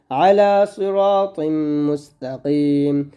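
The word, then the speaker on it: عَلَىٰ صِرَاطٍ مُسْتَقِيمٍ: আলা সিরাতিম, এখানে তট এমনভাবে উচ্চারণ করবেন যেন তা না হয়ে যায়, তর উচ্চারণ তয় থাকবে, একটু মোটা করে উচ্চারণ করতে হবে। আলা সিরাতিম, আলা সিরাতিম মুস্তাকিম, মুস্তাকিম, আলা সিরাতিম মুস্তাকিম, আলা সিরাতিম মুস্তাকিম।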